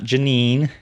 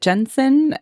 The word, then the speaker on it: Jensine: Okay, so my name is Jensine. Not Janine. No, not Janine, not Not Jasmine, Jensine. not Jensine. My parents always pronounced it Jensen, and so that's how I'm going to pronounce it.